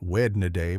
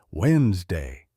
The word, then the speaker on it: Wednesday: not vegetable but vegetable Wednesday not wedna day but Wednesday the trick to pronunciation